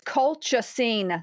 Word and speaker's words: colchicine: It's colchicine.